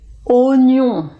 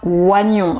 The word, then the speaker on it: oignon: sous eau voilà donc la bonne prononciation et oignons mais je pense que